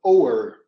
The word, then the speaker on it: o'er: We know the American anthem, and in part of that anthem, instead of using the word over, they use the word o'er.